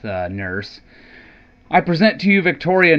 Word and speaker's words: Nourse: I've heard it pronounced Nourse or Nurse. We'll go with Nourse.